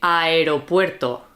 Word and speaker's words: aeropuerto: So if you have two vowels, for example, if you have airport, okay, we would say aeropuerto, aeropuerto. Yeah. So we don't say aeropuerto. Like some people want to make it into one Join sound. it into one sound, but we don't do that. We pronounce everything aeropuerto.